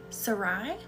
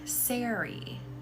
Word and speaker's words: Sari: So, Sarai? Like that? Or am I going the wrong direction again? I hope I'm not. Rhymes with Mary. Sari.